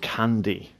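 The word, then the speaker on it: Can-D: have this drug um called candy um uh so it's spelled c a n- d and it's a hallucinogenic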